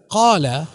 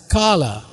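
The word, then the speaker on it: قال: The Arabic word qala is at first sight read by a foreigner as kala, but by dotting the letter kaf, it is pronounced q and not k.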